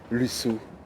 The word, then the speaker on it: Lussault: Alors là, il n'y a que 2 syllabes. Hervé Lusseau.